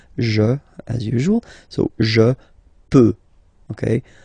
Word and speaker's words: peux: as usual, so je peux, okay? Final X not pronounced here, okay? So you've got X, but you don't pronounce it, so basically you get the sound peut, je peux, okay, so I can, je peux, okay.